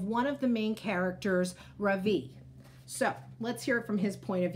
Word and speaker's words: Ravi: first name is ravi it's pronounced ravi with a soft ra and a strong v in sanskrit it means the sun in america people call me ravi with the stress on the first syllable that doesn't mean anything